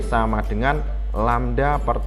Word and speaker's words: lambda: Dalam persamaan dituliskan V sama dengan lambda per T. Saya ulang, ini membacanya adalah lambda. Nah, ini simbol ini jangan lupa bacanya adalah lambda.